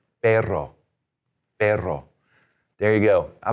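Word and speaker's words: perro: The double R is going to be what we call a trill, which is you're going to trill it like that with your tongue. So, P E R R O. Now, this word we add an R. It means dog. Let's try this one. Take the air out, do your vowel sounds, trill it, and say this.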